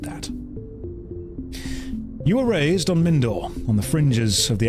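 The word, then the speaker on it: Mindoir: do it on purpose it's pronounced mindor we'll go with mindor and they're just all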